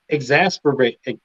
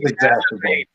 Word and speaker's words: exacerbate: And I'm like exasperate.